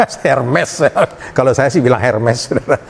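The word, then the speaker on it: Hermès: Ada yang pakai tas apa, bacanya bahasa Prancisnya Hermes. Hermes.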